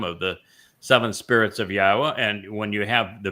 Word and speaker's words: Yahowah: So, you know, every place that you go, we're told that the wah is pronounced as an o sound and the hey is pronounced as an a and the y is pronounced like you would pronounce it in Israel or in yashya.